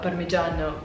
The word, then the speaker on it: parmigiano: I just can't pronounce it in the right way because it's pronounced in Italian. I think it's called parmigiano, risotto parmigiano, and then the other one is the cacio and pepe.